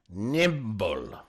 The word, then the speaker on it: Nimble: at the hands of Nimble. Be gone, subjects." Yes, Nimble. Like Jack be nimble. Jack, wait. I am not familiar with this. Oh, that's okay. Kind of like rhymes with thimble.